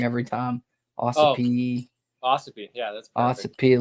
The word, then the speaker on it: Ossipee: Ossipee.